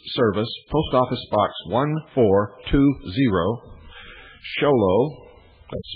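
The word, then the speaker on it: Show Low: to the Intelligence Service, Post Office Box 1420, Sholo, that's spelled S-H-O-W-L-O-W, Arizona, 85901. That's P.O. Box 1420, Sholo, Arizona, 85901.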